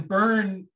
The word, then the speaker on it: Byrn: it to them and that's the only way people pronounce my last name correctly because it's got a y in it but no uh no e at the end it it does make